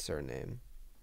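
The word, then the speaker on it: Suriname: this is surinam surname i think it's pronounced surname it's all right it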